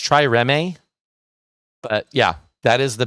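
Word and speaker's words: trireme: it uh the try i think it's pronounced try remy but yeah that is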